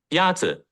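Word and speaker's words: 鸭子: Yazi is pronounced with a first tone. In Mandarin, there are 4 tones, which are essential to distinguish the meaning of words. The first tone is a high-level tone.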